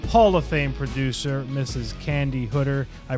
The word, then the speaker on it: Candi Hooder: from Pittsburgh Pennsylvania Hall of Fame producer Mrs Candy hooder I pronounced that correctly you did you did yeah